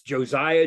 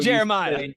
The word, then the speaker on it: Josiah: say my name right it's Josiah Josiah Josiah we all make the mistake not Jeremiah thank you we're so used to saying Jeremiah the nasty linebacker in the NFL yeah Josiah is going to make